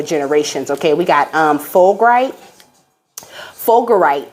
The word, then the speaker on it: fulgurite: Fulgurite is how you say it.